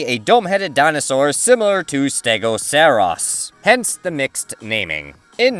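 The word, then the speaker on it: Stegoceras: very similar to stegoceros no that's not a mispronunciation of Stegosaurus so trodon was thought to be a dome-headed dinosaur similar to stegoceros hence the mixed naming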